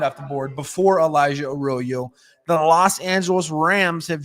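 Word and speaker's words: Arroyo: And I and and and I say Aoyo because that's what he says. He likes his name pronounced, not Aoyo like the Spanish word for ditch, right?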